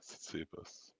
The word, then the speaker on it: Tsitsipas: Yeah, Tsitsipas. The T is silent. Okay. Like Tsitsi, like a tsitsi.